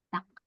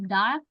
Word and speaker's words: 닭: Duck. Nah, ini juga ada bacimnya 2, tapi kita sebutnya duck aja, duck. Bukan dark, bukan dal ya. Ini sebutnya duck.